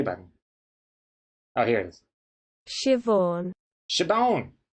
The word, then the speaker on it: Siobhan: i guess i'm curious to see how it's pronounced let's see here where's the play button oh here it is shivon sounds good never heard i've never even heard